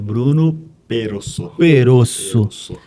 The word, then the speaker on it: Bruno Perosso: Eu só preciso saber qual que é a pronúncia certa. É Bruno Perosso.